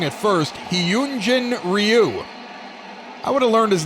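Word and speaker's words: Hyun-jin Ryu: I think I had the name wrong at first. Hyunjin Ryu.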